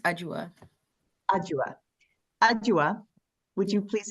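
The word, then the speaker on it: Adwoa: It's pronounced Ajua.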